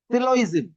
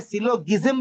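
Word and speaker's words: syllogism: এ upload হইছে ওকে আপনারা চাইলে topic name সিলইজম এস ওয়াই এল এল ও জি আই এস এম তো এটা সিলোজম পড়া যায়নি জি রিমেন সাইলেন্ট সিলোইজম সিলইজম পড়া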